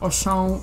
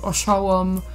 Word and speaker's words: Auchan: There's different pronunciations for that. I heard people pronounce that as Auchan, Auchan, Auchan. So, I mean, you name it.